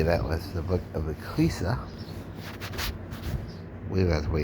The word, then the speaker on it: Ecclesiastes: set of readings comes from the book of Ecclesiastes. Begin with the 11th verse, 11th chapter, 10th verse. Then we're going to go right into 12, 1 to 14. Okay, that was the book of Ecclesiastes.